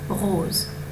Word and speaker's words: rose: «О» перед звуком «з». Rose.